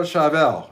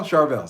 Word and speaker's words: Charvel: Fiverr set up Donna I gotta try Carvel chavel Charvel is it Charvel Charvel sorry guys charville sorry I've been out of